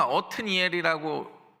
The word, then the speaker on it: 옷니엘: 오늘은 온니엘인데 온니엘은 이런 뜻입니다. 엇 원래 히브리어로 읽으면 어트니엘이라고 읽는게 정확한 어트니엘이라고 읽는게 정확한 발음인데 누가 나의 힘이라는 거예요?